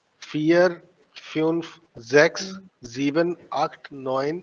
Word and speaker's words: vier: Fear. Fear. Fear. देखो, counting के अंदर काफी हम्म। सारे प्रोनाउंसिएशन रूल्स है। ड्राई, फियर, आई ई है तो फियर हो गया, ठीक है।